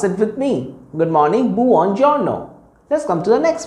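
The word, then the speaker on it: buongiorno: me good morning boo on your no let's pronounce it with me good morning boo on giorno let's come to the next word good afternoon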